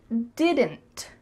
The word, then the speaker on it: didn't: is the clear pronunciation when native speakers are speaking quickly we do not say didn't with each sound pronounced instead you're gonna hear did did mmm it's a lot going on here in your throat did and D mmm so that final D is cut short and the final T as well is cut so it's really gonna